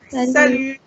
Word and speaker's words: salut: What do you say when you Salut. salut? Salut. Salut. The T is silent. You don't pronounce the T here.